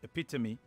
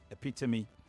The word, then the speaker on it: epitome: out there for instance the word is epitome and not epitome epitome and i hope somebody uh somewhere i will probably be hearing that pronunciation for the first time the correct thing epitome uh for epitome um thank you very much